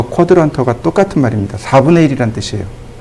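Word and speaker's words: quadrant: 어렵죠 이거 4분점이라고 합니다 쿼드란트 쿼드란트라고 읽어요 이거 동의어가 있습니다 동의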